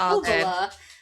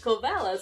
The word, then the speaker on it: Kovala: Cuz you say "Kovala" and I called it "Kovela".